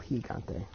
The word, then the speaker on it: Gigante: energy gone tape and the actual Spanish the proper Spanish pronunciation is El Gigante whichever route they take